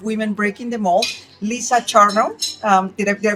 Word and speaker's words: Charno: Lisa Charumo. Um did I did I pronounce it correctly?